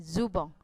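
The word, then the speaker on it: ズボン: Jubong tulisannya jubon, dia memakai huruf katakana, tulisannya belakangnya n dibacanya eng, jadinya zubong.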